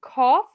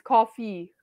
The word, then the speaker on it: coffee: the next word I think you just said cough but it's coffee coffee coffee perfect coffee good the next one